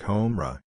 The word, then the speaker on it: Hamra: word he gives me, Hamra. N.B., this word in Hindustani is pronounced like Homra."